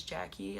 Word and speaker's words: Yaqui: why shouldn't we, and my name is spelled Y-A-Q-U-Y, which is Jackie.